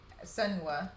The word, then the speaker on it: Senua: So I'm guessing that the main character who I'm painting now is Senua.